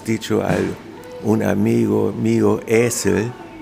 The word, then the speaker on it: Esel: Esel, con doble S. No, Esel, un E largo.